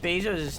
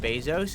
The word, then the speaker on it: Bezos: I heard recently that that Jeff Bezos' name isn't actually pronounced Bezos and is actually pronounced Bezos, and I think that he should change it.